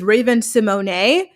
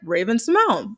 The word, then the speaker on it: Raven-Symoné: So you would think her name is Raven-Symoné, but she doesn't pronounce it that way. She pronounces it Raven-Symoné.